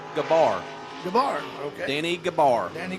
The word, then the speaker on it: Gabler: That's Danny Gabler. Well, Heavy D, I actually spoke with Denny down there a little bit ago, and his last name is pronounced Gabar.